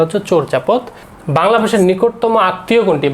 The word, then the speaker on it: চর্যাপদ: সঠিক উচ্চারণটা হচ্ছে চর্যাপদ।